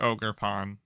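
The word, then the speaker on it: Ogerpon: the face of the ogre uh ogre it's ogre Pawn or a pond Google translate please save my life Google translate how do I pronounce this name it it is just ogre Pawn cool that that's good to know um dropped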